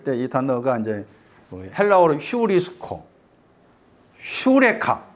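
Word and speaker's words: εὕρηκα: 단어가 이제 헬로로 휴리스코 휴레카 유레카 들어봤죠 유레카 발음이 휴레카라 했잖아 효리가 찾았다 여호와께서 주셨다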